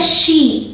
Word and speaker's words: she: याद रखिएगा ये श है, इसे आप सी प्रोनाउंस नहीं करेंगे, इसे आप सी नहीं बोलेंगे, ये गलत हो जाएगा। आप बोलेंगे शी।